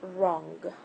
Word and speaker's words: wrong: Okay, and wrong. Alright. If you notice here we have two words starting with W followed by R, that their W is silent.